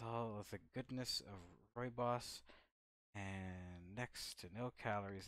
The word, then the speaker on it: rooibos: Sweet and festive Ruby Riobos? Rio. I never know how to pronounce this. Let's learn something together. Here, let's go. How do you pronounce that? Oh, here we go. Rooibos.